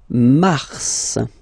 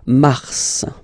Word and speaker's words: mars: okay then Mar okay so in a way it's an exception because normally final s is not pronounced in French okay we've got some exceptions and this one is one of them so Mar pronounce the final s mar mar okay then